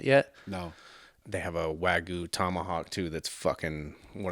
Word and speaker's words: Wagyu: Wagyu beef.